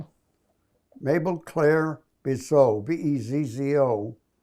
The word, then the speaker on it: Bezzo: Bezzo. B-E-Z-Z-O. Some people pronounce it Bezo.